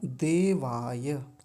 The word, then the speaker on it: देवाय: यहाँ पर गलती एक ये होती है, बोल देते हैं देवाय, देवाय, देवाय, देवाय नहीं देवाय। य को जब जब वो य बना हुआ है तो अच्छे से बोलेंगे, उसको स्पष्ट उच्चारण आना चाहिए।